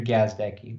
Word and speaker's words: Gazdecki: And yeah, for those listening, I wouldn't tell Jeff how to properly pronounce my last name until he hit five. And you said it perfectly. It's Andrew Gazdecki.